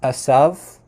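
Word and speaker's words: עשו: name Isa or in in modern Hebrew it's pronounced assav um so it's a little bit different but that's probably not how it was pronounced in biblical times the the V at the end was probably more like a w sound so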